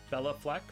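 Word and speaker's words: Béla Fleck: highlight highlight and you remember that's how it's pronounced and it's bella bella fleck for the banjo player north african capital bomb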